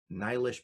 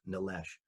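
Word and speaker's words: Nilesh: get this email from nylish patel well that's what i pronounce it i've learned since then it's pronounced nalesh one of the most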